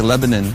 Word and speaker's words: Lebanon: It's spelled Lebanon, but here they say Lebanon, Tennessee.